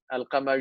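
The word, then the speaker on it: القمر: There is alif and lam, but you Yeah. don't pronounce the lam, right? You say ash-shams. Mhm. And when you say al-qamar, right? Al-qamar, you Mm. pronounce the lam very explicitly. So, in Arabic, the words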